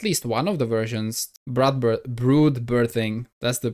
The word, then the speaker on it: Brood Birthing: Wait, Swalar, I thought you played Bloodbirthing in at least one of the versions. Brood birthing. That's the pronunciation.